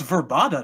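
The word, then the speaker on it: Vrbada: I think it's Verbata, no? Yeah, it's Verbata.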